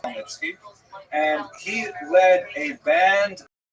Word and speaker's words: Khmelnytsky: You may have seen his name in the literature spelled with a CH, a Polish spelling, Chmielnicki, but it's pronounced Khmelnytsky.